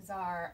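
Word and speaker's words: Czar: Tsar Ivan, even though it's pronounced Tsar, it starts with a C, so we did Tsar, and then an I for Ivan, the Great of Russia.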